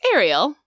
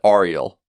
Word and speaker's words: Ariel: swallows the whole word now some people say Ariel because they like hear Sebastian say it in the movie and that's how he says it but it's Ariel Ariel right not Ariel right an Ariel yeah it's